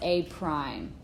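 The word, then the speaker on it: A′: And it's pronounced out loud as A prime. It is not an exponent.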